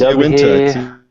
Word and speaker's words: Uinta: So we have this is the, I can't even pronounce it. Yeah, neither can I. Uinta. It's Uinta.